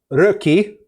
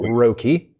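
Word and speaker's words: Röki: month game will be rookie or as americans were pronouncing roki and we're gonna be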